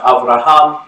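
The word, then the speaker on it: אברהם: Abraham is pronounced Avraham in Hebrew.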